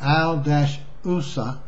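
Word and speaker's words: al-Uzza: I'm going to try to pronounce that. The first one is Al-Lat, and then Al-Usa, and then Manat.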